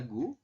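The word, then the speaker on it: 구: 9 itu dibaca gu, kemudian yang bintang dibaca man.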